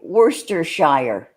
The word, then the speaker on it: Worcestershire: How do you say Worcestershire sauce? Worcestershire. Worcestershire. Okay. We don't pronounce the Shire. It's like... Sure.